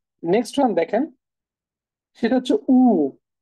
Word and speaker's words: U: ওকে, আচ্ছা, next one দেখেন সেটা হচ্ছে উ। ইউর যে উচ্চারণ সেটা হচ্ছে উ।